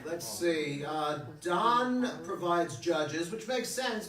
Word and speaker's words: Dan: Oh, It's spelled D-A-N as in Don. Like the hotel. Yes, the Don Hotel. Okay? I always called the Dane.